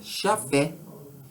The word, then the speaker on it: Yahvé: Yahvé, ou Jafé, o soberano. Edonai, Senhor. Repetindo, El, Elohim, Yahvé, ou como se pronuncia, Jafé, Edonai.